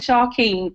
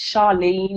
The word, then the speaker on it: Charlene: Errol, can I just say my name's come up as Sharkeen, but it's Charlene.